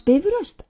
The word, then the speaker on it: Bifröst: Pronounce Bifröst, accent on the first syllable.